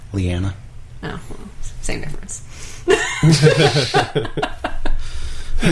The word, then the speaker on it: Lyanna: What did you say her name was? Did I say the wrong name? I think you did. What did I say? I think you said Loranna. What's her name? Lyanna.